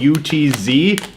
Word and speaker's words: Utz: I think that's how you say it, U-T-Z, Utz.